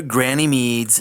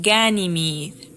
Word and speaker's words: Ganymede: Let's go to Granny Mead's and get this over with. It's pronounced Ganymede.